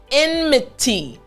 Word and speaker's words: enmity: sure you're able to pronounce this word properly again enmity t that t sound i want to make sure you're able to make the t t sound properly now in order to